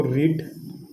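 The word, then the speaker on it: read: बोलते कि क्या है, V1 और V2 को इसको रेड बोलेंगे, रेड रेड, यानी कि रीड रेड रेड।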